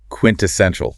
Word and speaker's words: quintessential: Quintessential. Quintessential. That's a good one. Quintessential. Stress is on the third syllable.